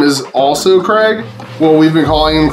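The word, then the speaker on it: Kregg: his name is also Craig. Well, we've been calling him Craig. If you have a better name for him, let me know. We've been calling him Craig, but spelled like K-R-E-G-G, like Kerr Egg.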